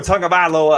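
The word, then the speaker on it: Tagovailoa: i can't yeah it's you say basically the word tongue and then talk about lola i'll work on it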